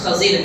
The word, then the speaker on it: خضر: خضر بھی بولتے ہیں, خضر بھی بولتے ہیں, صحیح تلفظ خضر ہے, خا پر زبر, زاد پر زیر ہونا چاہیے.